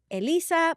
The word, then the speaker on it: Elyssa: Ena coveny Elissa and I pronounce it Elisa please don't pronounce it